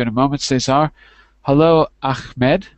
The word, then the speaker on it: Ahmed: a moment sayar hello Ahmed with the soft h ahed Huh hello John was that good today Ahmed yeah yeah you pronounce